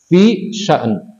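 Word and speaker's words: فِي شَأْنٍ: Fi sya'n. Bacanya begitu, fi sya'n.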